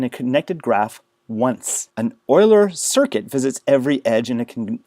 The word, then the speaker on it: Euler: Oiler paths and oiler circuits. Notice this is pronounced oiler like an oil can or the Edmonton Oilers.